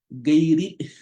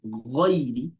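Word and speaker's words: غير: People say gayri. So there's no gayri. It's ghayri, ghayri.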